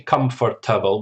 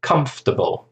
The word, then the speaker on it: comfortable: We don't say comfortable, we say comfortable. So it's like 3 syllables.